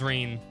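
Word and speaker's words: Rean: Nope. It's rain.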